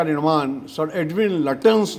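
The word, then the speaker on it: Lutyens: में रहते हैं, लेकिन कम से कम लटेंस का उच्चारण लुटियन ना कहें कृपया।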